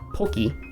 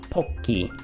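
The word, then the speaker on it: ポッキー: It's not poki, it's poki.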